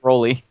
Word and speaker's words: Broly: Brawly, is it Brawly or Broly? Broly.